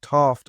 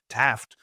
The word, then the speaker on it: Taft: there's a town there called TFT I always say I shouldn't pronounce it in an English accent because it sounds a little snooty Taft um which is really the